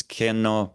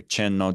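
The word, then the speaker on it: མཁྱེན་ནོ: Yeah, I think this mantra of which in Tibetan, as many people would recognize, is pronounced as kenno or chenno, depending on which kind of form of Tibetan pronunciation you used.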